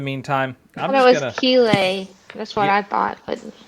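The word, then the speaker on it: Céilí: of these years I may learn how to pronounce it correctly. But in the meantime, I'm just going to... Keeley. That's what I thought. But... I thought it was Kelly, and then I thought it was Kaylee, and then it might have been something else.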